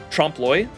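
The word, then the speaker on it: trompe-l'œil: what do you mean by that it's pronounced Trum tromploy a marble of reality that references Stay Night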